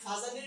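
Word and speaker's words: Fajans: কাজিমির ফায়ান কাজিমির ফায়ান তো আমরা ইংরেজিতে উচ্চারণ করি হচ্ছে ফায়ান আর বাংলাতে আমরা উচ্চারণ করি হচ্ছে ফাজান ওকে আচ্ছা সো এখানে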